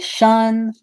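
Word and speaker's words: -tion: pronounced shan shan like shun that person meaning uh it's pronounced like the word shun as if you're avoiding someone but it doesn't mean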